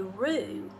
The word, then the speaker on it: roux: Every good macaroni and cheese begins with a roux. And roux is spelled R-O-U-X.